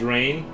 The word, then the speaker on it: Ren: If we're keeping score, Ren equals rain. So it's Renee Rain.